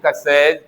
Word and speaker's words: क्ष: मैं फिर से कहना चाह रहा हूं, इस क और स से मिलने के कारण इसका उच्चारण होना चाहिए कस।